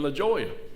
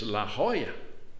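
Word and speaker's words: La Jolla: ahead he said well in California the J is pronounced as an H it's San Jose it's La Hoya I got you understand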